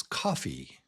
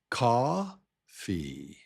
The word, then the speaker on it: coffee: water Here's another one, the very similar one, and this word is coffee. coffee coffee coffee coffee Do you hear it? ca ffee coffee coffee ca ffee coffee coffee Yeah, so it's ca ffee coffee coffee Your turn, try it.